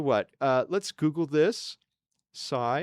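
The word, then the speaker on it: sai: Sigh. It's spelled s AI.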